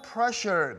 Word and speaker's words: pressure: 몇 분은 아직까지 셔라고 하시는데 여러분 그 귤이나 오렌지가 아이셔가 아니라 열중 셔 딱 그 발음이에요. 셔.